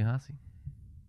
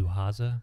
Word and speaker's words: Haza: And Hasse. Hasse? Hey. No. Is Hasse today? No, it's Haza. Haza. No, Haza.